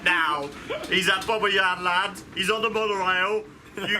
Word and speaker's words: Bobbejaanland: Bobbejaanland. Said it properly. Bobbejaanland. Yan. Here we go, we've got some ride models.